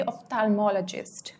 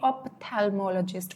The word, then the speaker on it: ophthalmologist: और ध्यान रखना, ये जो यहाँ पे PH है इसको हम प इस तरह से नहीं प्रोनाउंस करेंगे, यहाँ पे फ की साउंड आएगी ऑफ्थैल्मोलॉजिस्ट, ना कि ऑप्थैल्मोलॉजिस्ट, वो नहीं होगा.